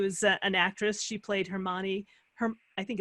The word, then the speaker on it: Hermione: So Emma Watson, who is an actress, she played Hermione. I think it's Hermione.